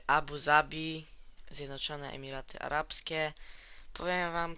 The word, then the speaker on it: Abu Zabi: z mojej strony torfabuhabi Abu Zabij tak nie wiem Zawsze mówiłem Abu Dhabi a okazuje się jakby że w naszym języku polskim wymawiamy Abu Zabi zawsze miałem taki mentlik